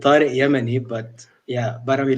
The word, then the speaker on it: Yamani: my name is tariq kermany uh i've actually been pronouncing my name wrong for the past like 20 years like you know i mean it's actually yemeni but yeah but i